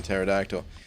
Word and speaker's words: pterodactyl: by venom the parrot i was really going to pronounce the p in pterodactyl then the pterodactyl uh